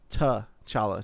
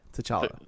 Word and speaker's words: T'Challa: T'Challa. Just a T and then Challa. T'Challa.